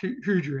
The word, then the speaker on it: Hydra: of the water snake, Hydra, or Hydra. I always pronounce it in Greek, it's Hydra in Greek.